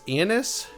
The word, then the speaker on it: Ionis: In the game, they pronounce it as Ionis, and that's where we're going to go first.